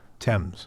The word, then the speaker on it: Thames: it under the river times that's how you say it right thames thames the river thames and uh so it's